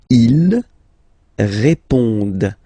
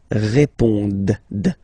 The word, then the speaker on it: répondent: Ils répondent. So same thing here, classic ending, ENT, but then you don't pronounce it. Okay? Répondent.